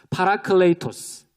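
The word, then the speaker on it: παράκλητος: 더 깊은 뜻이 있겠죠 저와 함께이 그리스 단어를 발음해 보실 텐데요 어렵지 않습니다네 그리스 단어 한번 제가 먼저네 읊어 보겠습니다 파라클레이토스 파라클레이토스에 파라클레이토스이 단어에는 어 몇 가지 뜻이 동시에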